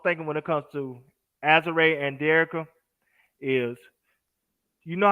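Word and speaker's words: Azurá: Her name right is Azure Stevens. Broke off and having me call her Azura.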